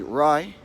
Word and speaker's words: Rae: want to pronounce state so like I said if you never say rye as in rye breed fry braid alright so just roll your are before you say the Rye and then you'll have their first pot lie alright now your English